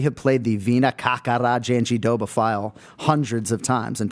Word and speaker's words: Jandiroba: played the Vina Kakara Janjidoba file hundreds of times, and people still don't get it. Listen to her say it. She says, Vina Kakara Janjidoba. So that's what we go with.